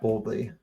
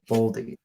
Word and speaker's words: Boldy: Let me just I'll take Matt Boldly. Matt, who? Thank you. Boldy.